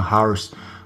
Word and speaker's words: hours: ninyo christin Gallardo yan mali po ang pronounciation ng hours silent h hours hours ganon nak h